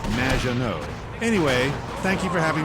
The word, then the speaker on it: Maginot: Maginot. Welcome to the show. Thanks, Amy. However, you have mispronounced my name. It's Madge, which rhymes with badge. As in duh, and no as in more than you. Maginot.